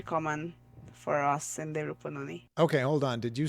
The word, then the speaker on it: Rupununi: All the way from South Rupununi. Do I pronounce that correctly?